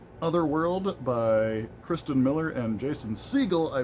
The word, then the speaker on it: Jason Segel: It's not I said it I pronounced it Jason Segel last week. It's not Jason Segel. It's Jason Segel."